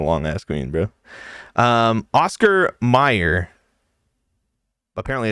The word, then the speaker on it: Mayer: Yeah, he's saying Meyer. It's Meyer. But that's spelled Mayer.